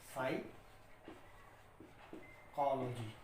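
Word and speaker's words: psychology: इट is silent in the word pneumonia and इट is silent in the word साइकोलॉजी। तो rule इसका आप ये लिख सकते हैं कि कहीं भी आपको पी जो है अगर उसके बाद कॉन्सोनेंट एन या एस आपको कहीं देखने को मिलता है, पी के बाद कॉन्सोनेंट एन या एस देखने को मिलता है तो वहां पर पी को आप साइलेंट रखेंगे।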